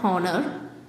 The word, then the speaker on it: honor: The first letter of the word honor, for example, it is a consonant, but it's unpronounced. In spite of its spelling, the word honor begins with a vowel sound.